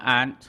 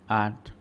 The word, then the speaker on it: aren't: many no there aren't อ่านว่า aren't ออกเสียงคล้ายๆป้านะ aren't no there aren't any